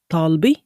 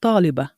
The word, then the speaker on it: طالبة: in Shami we say طالبي. طالبي. In Fusha we say طالبة. طالبة. In writing, it's the same word, it's just that in Shami we pronounce it differently, as you might have guessed by now.